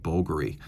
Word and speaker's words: Bulgari: And yes, it is pronounced Bulgari.